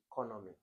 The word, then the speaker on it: economy: Economy. Okay, so economy. The stress is on the first syllable.